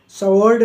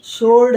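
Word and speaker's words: sword: है रोंग नहीं है ऐसी सवर्ड नहीं है सड है तलवार तो इन तीनों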